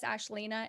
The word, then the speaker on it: Ashlina: let's go uh again my name is ashleena and you spell that a-s-h-l-i-n-a-a um you could call me ash you can call me ashlina um i prefer to be called those things not ashley because like i didn't that's